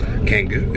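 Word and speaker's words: Canggu: We're off to Canngu at the moment. We're off to our Canngu. We've just learned how to pronounce it finally.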